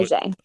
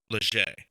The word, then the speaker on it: Leger: Okay, so that Jose or hotel the correct pronunciation is not leisure is it's what Leger. Leger.